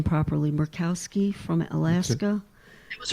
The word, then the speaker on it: Murkowski: Republican Senator Lisa, and I do not pronounce her name properly, Murkowski from Alaska.